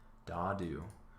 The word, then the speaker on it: Dadu: Here's our pronunciation, Dadu, or Great Capital.